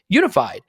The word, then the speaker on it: UNIFYD: So on the physical well-being side, introducing Unified. It's spelled, by the way, UNIFYD. UNIFYD, Unified Healing.